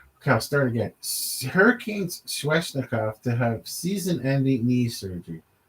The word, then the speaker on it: Svechnikov: to, and I don't hear his name being pronounced on the air. So that's Sweat. So it's Svechnikov.